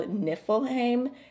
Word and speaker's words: Niflheim: say these things okay i definitely would have pronounced that wrong without the help of google this shade is called niflheim and it looks like a matte deep blue